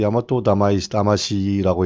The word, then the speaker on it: 大和魂: 이거를 야마토 다마시라고 읽는데 이게 일본 정신 이런 뜻이지만 결국은 어떻게 됐느냐.